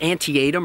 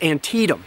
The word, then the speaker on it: Antietam: Even some of the war's very well-known battles are often mispronounced. It is not Antietam or Antiem, as some people say, it's Antietam.